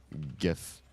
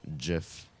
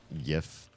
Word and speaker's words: GIF: So whether you pronounce GIF with a hard G, GIF, or a soft G, GIF, chances were you came into the comment section